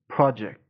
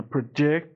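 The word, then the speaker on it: project: اسم و تلفظش م ببین استرس رو بخش اول پراجکت پجک پراجکت همین لغت به عنوان فعل بخوایم استفاده کنیم استرس میره رو قسمت دوم و تلفظش اینجوری میشه پ بین مکن پروجکت پ رو سریع میگم جکت و محکم محکم محکم پروجکت ولی تو حالت اسم به عنوان اسم همون قسمت اولو محکم تلفظ می‌کنم پراجکت پراجکت خب به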